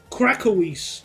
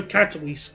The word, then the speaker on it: Katowice: Krakowis. Okay, so Katowice. Gotcha. Oh. Horrible. No, it's not. The place names, I'm pronouncing them flawlessly.